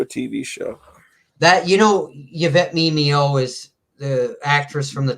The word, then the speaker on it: Yvette Mimieux: That's how you say her name, by the way. Did you know that? I just always say Mimeo. I used to say Mimieux. I always say Mimieux.